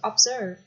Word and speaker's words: observe: Tiếp là từ observe. Observe, từ này trọng âm sẽ bằng tiết thứ hai.